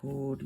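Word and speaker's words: こおり: 코리 코 길게 늘려주시면서 코.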